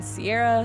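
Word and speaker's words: Ciara: having grown up with my name being Sierra spelled c i a r a uh that has always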